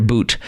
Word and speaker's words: Bout: Merchant of death Victor boot um looks like bout but it's it's pronounced Boot and Putin needed him